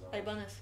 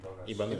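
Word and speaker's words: Ibanez: Ибанес? Айбанес. Айбанес? Айбанес, да? Нет, Ибанес. Ибанес.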